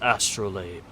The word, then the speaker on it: astrolabe: I can never remember if it's astrolabe or astrolab. I think it's labe. Astrolabe. Pronunciation. It's labe. Astrolabe. Different. Astrolabe. I was correct the first time.